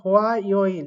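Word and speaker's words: 화요일: এরপরে হোয়া ইয় ইল, এটার উচ্চারণ হয় হোয়া, ও আ ই ও ইল, হোয়া ইয় ইল।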